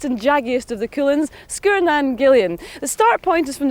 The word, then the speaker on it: Sgurr Nan Gillean: We pronounce it in Skye, Sgurr Nan Gillean. Sgurr has a long U normally, but when you put in the glide vowel between the two consonants after it, it becomes short, Sgurr Nan Gillean.